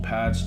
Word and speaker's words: Pab: day dissing stopped Lil pad's chilling murder I think it's pronounced pad yeah it's pad it's pad after the death of